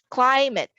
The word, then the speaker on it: climate: that is letter A, climate. Climate is stressed on the first syllable.